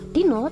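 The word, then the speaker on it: dina: Dino dalam bahasa Jawa itu artinya hari ya. Dan penulisan dino sendiri itu sebenarnya bukan pakai O kayak gini, melainkan pakai A. Nah, kenapa pakai A tapi dibacanya O?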